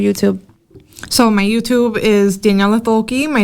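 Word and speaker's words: Daniela Thoelke: out what's your youtube so my youtube is daniella toki my name i don't have a special name can you spell that so it's d-a-n-i-e-l-a and then my last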